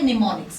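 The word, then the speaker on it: mnemonics: और ये जो चीज़ हैं इसको असेंबली लैंग्वेज में कहा जाता है निमोनिक्स। क्या कहते हो आप इसको? निमोनिक्स। याद रखना। ठीक है? एम से स्टार्ट होती है स्पेलिंग एम साइलेंट होता है।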